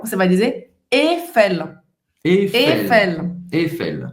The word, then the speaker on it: Eiffel: Porque a gente fala Eiffel. Para começar, o som mais forte, a sílaba forte vai ser a última. E o I não se pronuncia. Então, em vez de Eiffel, você vai dizer Eiffel.